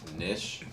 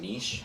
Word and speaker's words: niche: feel like that'd be a decent niche or niche. How do you say I that? say niche. Niche. I I heard somebody say niche, and I was like, niche. it sounds uneducated.